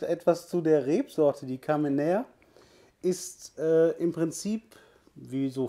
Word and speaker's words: Carménère: kamen nehmen oder Kamener schreibt sich eigentlich die Rebsorte mit zwei Akzenten und Französisch ausgesprochen müsste es Kamener sein der Name kommt wohl